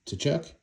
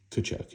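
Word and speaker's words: Tkachuk: Is it Tachuk or Kachchuck? Can't remember. I think it's Kachchuck. And T is silent. I think I'm right on that.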